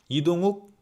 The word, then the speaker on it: 이동욱: 이동욱 is just 욱. Not 우.